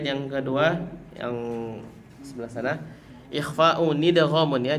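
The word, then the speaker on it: إخفاءٌ إدغامٌ: Yang bait yang kedua yang sebelah sana, ikhfa'u nidghamun ya, jangan lupa bacanya adalah ikhfa'u nidghamun. Nah, ini nun wiqayah. Ikhfa'u nidghamun, bukan ikhfa'u dghamun, tapi ikhfa'u nidghamun.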